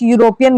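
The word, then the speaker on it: European: इसका प्रोनाउंसिएशन क्या है? यूरोपियन। यो यो कोई वोवेल की साउंड नहीं है। यू कंसोनेंट की साउंड है।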